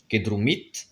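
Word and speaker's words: que drumit: Kedrumit, pareil, l'accent tonique reste sur la terminaison et non sur le radical.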